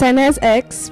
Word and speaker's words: Inas X: In the building, without further ado, Inez X. So, Inez X, or can I call you Inez? It's Inez X, okay.